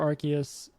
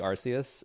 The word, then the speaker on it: Arceus: Apparently, It was originally Arceus, and then they realized that arse is how they say ass in England, and they're like, we have to change this.